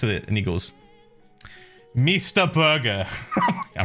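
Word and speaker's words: Meester Burger: but yeah anyway anyway so we go to mr burger it's pronounced m it was spelt sorry m-e-e-s-t-e-r burger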